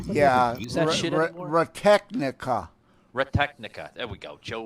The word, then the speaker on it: Technica: He says he was using Audio Retenica. Retenica? Huh? Yeah, Use that shit anymore? Retechnica.